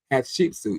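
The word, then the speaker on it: Hatshepsut: Hat sheepsuit.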